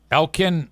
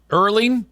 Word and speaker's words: Erling: Elen Holland. Erling.